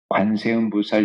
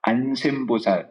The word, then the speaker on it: 관세음보살: 똑바로 해야 된다는 거예요 관세음보살 이렇게 해야지 안샘보살 이렇게 안 돼요 바른 눈물 똑바로 해야